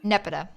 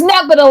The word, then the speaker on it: Nepeta: Nepeta. People say Nepeta. Nepeta. Yeah. Nepeta, And what's the Leon. second name? Nepeta sounds like Geppetto from Pinocchio.